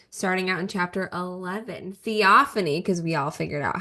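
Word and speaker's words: Theophanie: So we are discussing chapters 11 through 20, starting out in chapter 11, Theophany, because we all figured out how to pronounce her name in the last week.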